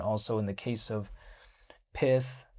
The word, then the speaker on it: Pyth: We take a look at also in the case of Pyth, right? It's spelled Python, but without on, so without on, Python minus on becomes Pyth.